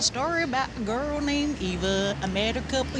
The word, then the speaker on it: Iva: My name, Eva, spelt with an I, came from, it's actually the village my family's from in Savai'i, but I was actually named after my great-grandmother.